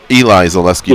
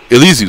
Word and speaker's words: Elizeu: So I was just calling him Eli Zaleski Dos Santos. Elizeu, sorry. Okay. Elizeu.